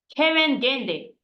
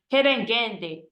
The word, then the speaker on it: kerengende: And dragonfly in Swahili is kerengende. Kerengende. Okay. Yes. Or if you can roll your tongue, you can pronounce it with your tongue, like kerengende. Kerengende.